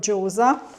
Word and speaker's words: gyoza: Now I pronounce it Gioza, so if you want to pronounce it in Japanese, but if you want to pronounce it in Chinese, then Józa. So we used to call them Gyóza.